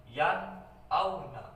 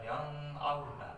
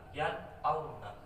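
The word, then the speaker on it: يَنْأَوْنَ: Nun mati bertemu dengan huruf idhar, nun mati, jadi dibacanya jelas yan auna, bukan yang auna, yan auna, jadi jelas ya.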